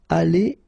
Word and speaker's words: allés: If you've got the plural, like it's the case here, ils seront allés et s, like that. So you'll put this s, you don't pronounce it, but still you need to put it.